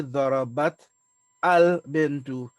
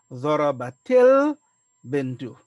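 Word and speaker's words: ضربت البنت: So we will not say darabat al-bintu, but rather we need to continue. Whenever we have two sukun coming in this form here, we take a temporary kasra.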